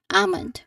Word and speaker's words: almond: Um, keep the that, you know, the letter L silent. Ammon.